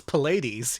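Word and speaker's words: Pleiads: make me pronounce this it's it's Pilates even though that's not how it's spelled you'll see let me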